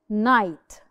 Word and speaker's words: knife: knife cool the examples the silent k lamel and the K is not pronounced knife Knight who could tell